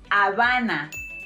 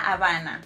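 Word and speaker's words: Habana: of Cuba it's pronounced Avana or you know La Havana not Havana all right Havana it's Havana because remember that letter H is silent okay so we say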